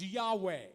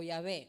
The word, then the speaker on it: Yahweh: God's name is spelled YHWH. El nombre de Dios se deletrea YHWH. And it's basically pronounced Yahweh. Y se pronuncia básicamente, bueno, la gente lo pronuncia Yahweh o Yahvé.